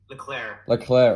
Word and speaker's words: Leclerc: Because I heard it was Leclerc. Leclerc. Oh, okay. Because so many different people pronounce it differently, so I just want to make sure.